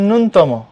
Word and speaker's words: ন্যূনতম: এটা আমরা অনেকে পড়ি ন্যূনতম, কিন্তু উচ্চারণ হচ্ছে ন্যূনতম। খেয়াল করে দেখো জফলাটা কিন্তু শুরুতে, যদি দ্বিতীয় দন্তন্যর পরে থাকতো তাহলে হয়তো ন্যূন, কিন্তু যেহেতু শুরুতে প্রথম দন্তন্যর পরে, তাহলে হবে উচ্চারণটা হবে কি? উচ্চারণ হবে নুন, ন্যূনতম।